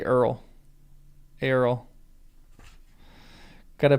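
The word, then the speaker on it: Eorl: Let's just say Earl. Earl. Got to pronounce that right.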